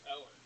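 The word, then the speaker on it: Eoghan: It's spelled E O G H A N, but it's pronounced Owen.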